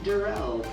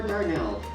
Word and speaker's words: Jerrell: excited very nice well my name is jerrell pronounced darrell not or darnell but darrell thank you yes yes say it